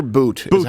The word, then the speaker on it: Bout: so uh Victor uh is it pronounced Victor boot even though it's pronounced it's like bout it looks like bout uh I'm American so